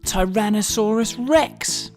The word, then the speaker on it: Tyrannosaurus rex: most famous dinosaur ever tyrannosaurus rex how do you say that again tai ra na saw rus rex it's often called t-rex